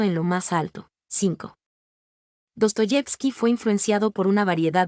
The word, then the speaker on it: Dostoyevski: gobernación de Minsk Bielorrusia en sus orígenes el acento del apellido como el del pueblo recaía en la segunda sílaba pero cambió su posición a la tercera en el siglo 19.7 de acuerdo con